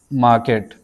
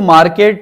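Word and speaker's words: market: ही is about to गो टू मार्केट। And guys इसको मार्केट ना pronounce करें। Because आर is silent. इसको बोलेंगे हम मार्केट।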